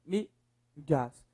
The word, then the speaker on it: mídias: Mídias. Beleza. Qual a sílaba mais forte?